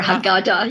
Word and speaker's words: Haggadah: And by the way, the Haggadah, how do you pronounce it? yeah, Haggadah or Haggadah, yes, Haggadah.